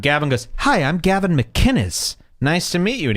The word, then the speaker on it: McInnes: a rag gavin mcginnis the man goes out of his way to pronounce it how it's written mckinnis mick kinnis and all of these losers keep saying mcginnis mcginnis it's a totally different name gavin hates that by